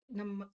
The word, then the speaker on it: ನಮಃ: ಸೇರಿದೆ ಪರಮಾತ್ಮನೇ ನೇ ದೀರ್ಘ ನಮಃ ನಮಃ ಆದ ನಂತರ ಅಲ್ಲಿ ವಿಸರ್ಗದ ಉಚ್ಚಾರಣೆ ಹ ಒಟ್ಟಿಗೆ ಓಂ ಶ್ರೀ ಪರಮಾತ್ಮನೇ ನಮಃ